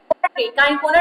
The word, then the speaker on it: Cinchona: तो actually काइनकोना tree नाम होता है, ठीक ना। काइनकोना नाम का ट्री होता है, स्पेलिंग बोल देती हूँ मैं, CINCHONA कोना ट्री होता है।